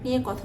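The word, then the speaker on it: Nike: বানানটা যেখানেই আপনি দেখবেন সেখানেই উচ্চারণটা লুইস নয় উচ্চারণটা হবে লুই এবার যে ব্র্যান্ড নিয়ে কথা বলব সেটাও একটা ইতালিয়ান ব্র্যান্ড এবং শুরু হয়েছিল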